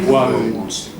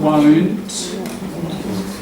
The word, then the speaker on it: won't: Woe, oh, that one. Oh, won't. Just in terms of pronunciation, won't. Will not. And that's right. Will not. But in speech we often contract it to that, don't we? Won't and want. Often people say this one like that one with a short op.